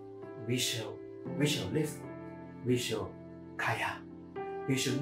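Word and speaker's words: חָיָה: The word shall live in the Hebrew words is kaya. You know, there's a hotel in KK called Kaya Hotel. By the way, it's pronounced kaya. It's not chaya.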